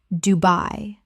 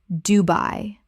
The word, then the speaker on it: Dubai: Repeat I-ole of Wight Isle of Wight Word 121 Dubai Common mispronunciation Du-by Correct pronunciation Du-bai Two syllables with the stress clearly on the second.